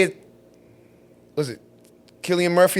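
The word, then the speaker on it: Cillian Murphy: Let's say it was it Killian Murphy, that's how you pronounce his name.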